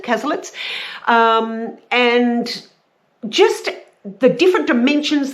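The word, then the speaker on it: Cazalets: And it deals with a family, the Casalets, and the Casalets? Yes, I'm fairly sure that's how you pronounce it, Casalets.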